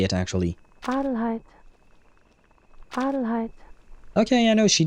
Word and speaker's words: Adelheid: Oh, but that would be in German, right? Adelheid. Oh, that's how they pronounce it in English as well. Adelheid.